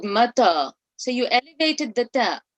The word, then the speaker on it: متى: So for the ta, you have to lower your tongue towards the bottom part of your mouth. So mata, mim and ta are both light.